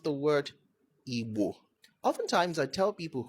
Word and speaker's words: Igbo: This correction is for people who are Igbo. Don't say I'm an Igbo person.